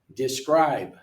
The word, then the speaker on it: describe: for two syllable verbs most verbs a second syllable is louder longer example describe prepare enjoy repeat I